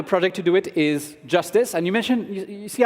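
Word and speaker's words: Jstz: is tesos X so jsz pronounced Justice is an experimental rollup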